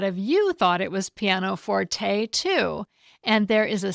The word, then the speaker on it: pianoforte: A couple of weeks ago, I pronounced the name of a keyboard instrument as Pianoforte, and I did it on purpose after checking multiple dictionaries. I always thought it was pronounced Pianoforte, but I often check pronunciations when it's not